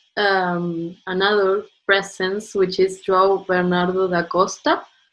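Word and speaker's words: Bénard: presence, which is João Bernardo da Costa. Bernard da Costa, yes. It's the French name, Bernard.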